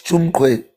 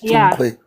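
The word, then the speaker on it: Tsumkwe: you yeah and and what we call tumqu I don't even know how to pronounce it properly. It's Chungo. It's Chungo.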